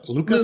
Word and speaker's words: Lucas: I think your team is Bayla and Lucas. Luca. Yeah, Luca. Luca. Yeah, Luca, the producer. The Yeah, silent S always gets me.